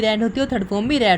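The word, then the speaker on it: read: है second form भी रेड होते हैं स्पेलिंग यही होती है बस हमारे उच्चारण में थोड़ा अंतर राहत है सेकंड फॉर्म को रेड रेड बोलते हैं ठीक है और हमारा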